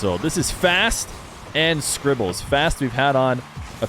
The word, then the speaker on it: Scrzbbles: right this is scribbles i believe it's pronounced scribbles as if the z were an i uh but i actually